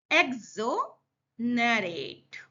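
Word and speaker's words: exonerate: तो ये आपको ध्यान रखना है, तोड़ के बोलना है वर्ड को प्रोनाउंसिएशन करने के लिए। तो यह बहुत महत्वपूर्ण निर्णय था या सकती है। एक्सोनरेट, अब उसको क्या, आपको कैसे बोलना है?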